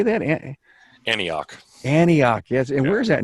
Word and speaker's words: Antioch: mark how do you say that in Antioch Antioch yes and where is that near uh we're